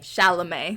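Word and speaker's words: Chalamet: How do you pronounce shaame? Shala. Timote. Timote. Shamale. Shalame. Shalamé.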